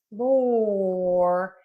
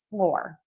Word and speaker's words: floor: So flour has the sound and floor has the sound. So for flower, we're going to open and move our mouth a lot. So these words are pronounced differently in American English.